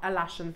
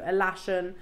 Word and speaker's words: Alashan: Sakura I always foret I can never pronounce the one which is a bit avocat alasan thank you alashan they are some of